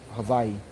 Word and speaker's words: Hawaii: before I mve to Havi and yes I said Havi cuz that's the proper pronunciation of it um before I moved